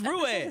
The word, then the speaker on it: Ruiz: Well, what's Ruiz? Like that. How do you spell Ruiz? You spell it the same way, but it's pronounced Ruiz.